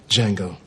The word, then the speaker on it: Django: Django. Can you spell it? DJANGO. The D is silent.